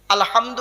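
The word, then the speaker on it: الحمد: প্রথম বাক্য আলহামদু মানে ওয়ালার ভেতর থেকে হেটা উচ্চারণ করবেন।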